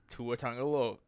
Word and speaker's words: Tua Tagovailoa: Hairball sat Tua Tagovailoa.